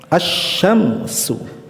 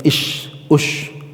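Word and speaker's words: الشمس: Asyamsu ya. Lamnya dilebur ke huruf syin tidak dibaca lamnya.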